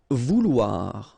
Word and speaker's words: vouloir: Vouloir, okay, O-U, ou, and then O-I, oua, so vouloir, okay.